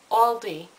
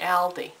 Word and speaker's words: Aldi: section yesterday told me it's all Aldi not Ali yeah so I guess I was saying it wrong but I figured if it was a l d i it would be ald because there's only one L but I guess you